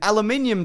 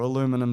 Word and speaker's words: aluminium: Buddy Eabsby, the original Tin Man, was covered in aluminium dust or aluminum dust. Yeah, Americans say aluminum, we get it. Yeah. We get it for efficiency's sake. Drop an eye out, we get it.